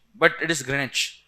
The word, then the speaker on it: Greenwich: Many people pronounce it as Greenwich, but it is Greenwich. W silent here. UK English may. Greenwich.